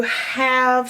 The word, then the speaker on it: have: It has an E on the end that you can't hear, and it's not doing its job either. It's not being magic because it's not have, it's have. Have.